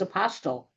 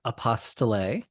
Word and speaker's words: apostille: A common one that I hear all the time is apostle. Yep. Or apostille. And then there's my personal favorite, apple steel. And my favorite is apostille because it rhymes with unrestricted fees.